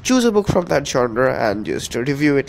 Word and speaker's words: genre: this word right here, genre. It isn't pronounced genre, it's pronounced genre, ZHON space ra, RUH.